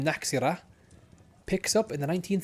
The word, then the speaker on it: Nachzehrer: Oh, I believe I got the name wrong there. Naki ra.